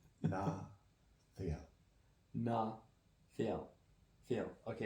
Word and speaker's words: Ná Theial: Our name is Ná Theial. Not Ná Theial. Ná Theial. Drop the E. The way that he has it spelled is the correct way, but the E is pronounced differently than the way his brain interpreted it.